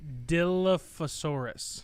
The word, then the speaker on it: Dilophosaurus: in it and uh so Dilophosaurus yep you got it that's that is exactly how you pronounce it too yep yep